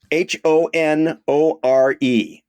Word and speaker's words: Honore: Devon it is ding dingding wow here's one h o n o r e this is another Street wow well I would pronounce it normally Honore um you would be